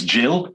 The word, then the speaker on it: gill: has to address the gill of pickled shrimps. Right. Okay. So two things. It's Jill. It's pronounced Jill, not Gill.